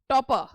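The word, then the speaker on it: torpor: pronunciation ले लेते हैं टॉपर that is टॉपर टॉप जब बीच में आर आता है तो उसका जो है वो उसको प्रोनाउंस नहीं किया करते दैट इज टॉप टोपा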